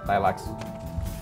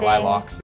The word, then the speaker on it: lilac: Lilacs and I was pronouncing it Lilocks.